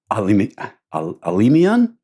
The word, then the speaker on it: Alimian: Alimian? Yes. Is that right? Alimian?